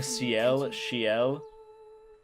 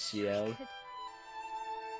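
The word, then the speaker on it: Sciel: Like I was calling Cel, but it's Seel.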